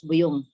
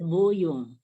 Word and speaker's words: buyong: Actually, the word buyong, it's not pronounced as buyong. Buyong. It's buyong.